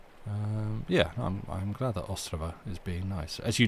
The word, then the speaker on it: Ostrava: Yeah, I'm glad that Ostrava is being nice. As you told me that it should be more correctly pronounced, put the emphasis first rather than Ostrava, like we do here.